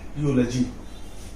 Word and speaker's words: eulogy: उसे क्या बोलते हैं, यूलॉजी। अब मुझको अगर इसका उच्चारण करना आ गया, यानी ई के बाद अगर यू है या डब्लू है तो हम क्या पढ़ेंगे, यू से उच्चारण करेंगे।